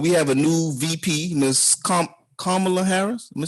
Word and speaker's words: Kamala: Now we all know that we have a new VP, Miss Kamala Harris. Am I saying it right? Yeah, Kamala Harris, and she has a white husband.